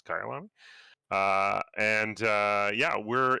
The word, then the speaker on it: Kyalami: this is uh kaialami i had to look up how to pronounce it didn't know if it was kailami or kaialami apparently it's kylan uh and uh yeah